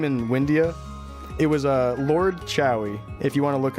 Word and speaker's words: Chouy: It was Lord Chowie, if you want to look up my mage.